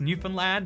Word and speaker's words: Newfoundland: it is also this is Newfoundland but it's pronounced Newfoundland and I I I don't get to question